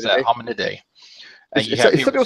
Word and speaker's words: Hominidae: I can never pronounce that. Hominidae.